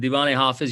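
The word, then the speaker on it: Divan-e Hafez: Again, before I answer that about my favorite takeaway, the Diwani Hafiz, you've pronounced it beautifully. It's absolutely right.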